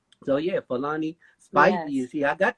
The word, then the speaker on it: Falani: i wanted to say my own name is pronounced fulani and i fake feiloni